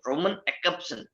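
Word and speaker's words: Roman Jakobson: ठीक है, एक तो है विक्टर स्लोवस्की, दूसरा है व्लादिमीर प्रॉप, ठीक है, तीसरे हैं रोमन जैकब्सन। वैसे एक्चुअल जो प्रोनाउंसिएशन है एक्सेप्शन है। ठीक है, जे साइलेंट है, रोमन एक्सेप्शन।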